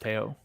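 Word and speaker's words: Théo: Is it Teo Porcher? I think it's pronounced Teo.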